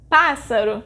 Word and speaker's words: pássaro: Pássaro is a proparoxítona because its sílaba tônica is pá, the third to last.